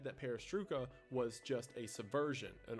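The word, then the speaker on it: perestroika: by someone in Toronto the perestruca deception at least I think that's how it's pronounced is in reference to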